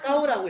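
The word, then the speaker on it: 高: 중국어에서는 아직 천천히 할 건데 중국어에서는 이 쥐를 기억이라고 읽어요. 그러면 이거 빼면 뒤에는 뭐야? AO는 아오겠지? 아오가 기억을 만나 까오라고 읽으면 되는 거야.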